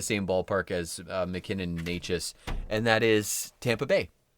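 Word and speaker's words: Nečas: That's another name that it took me a while to figure out how to pronounce that properly until he was like a star. It's a skill. Honestly, Necas, Natchez.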